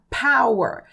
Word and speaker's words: power: como força tá e repare que a pronúncia dessa palavra aqui ó a letra P no inglês é aspirada a muitas vezes a maioria das vezes aí ela vai ser aspirada o que que é assim aspirado você vai soltar um arzinho de leve assim para poder pronunciar no corretamente por isso ficou Power e não Power tá é claro gente